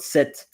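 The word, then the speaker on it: sept: so same with v the uh the g is silent same with uh the number I was talking about set which is seven set event the p and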